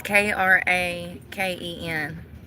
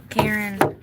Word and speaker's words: Kraken: I don't know how you pronounce this place. They're not from here. No, it's K R A K E N. Y'all, I don't speak English. Can somebody help me here? Karen, no.